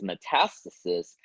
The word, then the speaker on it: metastasis: So Meta means spread so if we say metastasis or the way we pronounce it is metastasis that means spreading of something into the balance